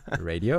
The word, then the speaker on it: radio: an L clear l sound Lio but it's radio right yes that's right okay so just keep